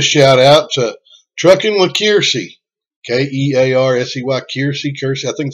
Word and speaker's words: Kiersey: But I also wanted to talk about and give a shout out to Trucking with Kiersey. K-E-A-R-S-E-Y, Kiersey, Kiersey. I think it's Kiersey. That's the way she pronounces it.